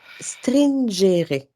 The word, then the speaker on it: stringere: Tu sais, le stress en latin, c'est ça se prononce stringere, qui veut dire parce que mon latin est très hein, j'ai jamais pris de cours de la Mhm.